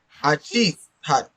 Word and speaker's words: hachís: But here I'm saying that Hachís. I'm pronouncing it as if in Spanish I would be using a J.